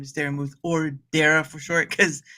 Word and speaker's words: Daramouthe: My name is Daramouthe, or Dara for short, because some people still say Daramouthe, which is a funny one since there's a silent E at the end. But yeah, yeah, I know, right?